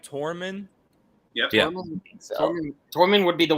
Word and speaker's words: Tormund: different language yeah did i say it right tormund yeah tormund would be the one to do